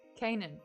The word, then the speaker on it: Canaan: culture of canaan house canaan kate kanan i cannot say it properly okay it was zelda under the desk with the squeak toy um kenyan isn't it kin house kanan thank you colleen kanan nice nice